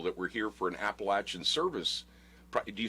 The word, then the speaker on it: Appalachian: Some people say Appalachian, but around here we say Appalachian. Okay, you got to correct me. You know, I'm open to. I'm in a church where we correct each other. So you correct me if I say it wrong. But the college students go to Appalachian State University, not Appalachian. Not okay, Appalachian.